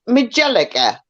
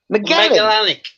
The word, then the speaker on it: Magellanic: Is it Magellika penguin? Metallica. Well, what? Magellan. Magellanic. It's a Magellanic penguin, but they're known as Magellans.